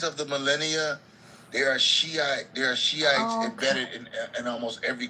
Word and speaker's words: Shiite: It's a Shiite.